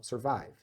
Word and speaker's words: survive: que é cirurgia Survive Survive aqui já é na sílaba átona Mas é o mesmo som tá porque o vive é a parte forte da sílaba Mas mesmo som Survive Survive aqui ó Survey